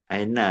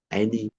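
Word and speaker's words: أين: Jadi aina ain ya. Aina enggak boleh aini ya.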